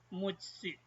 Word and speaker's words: 六つ: How to say the counter of 6? It's mutsu, special. Mutsu.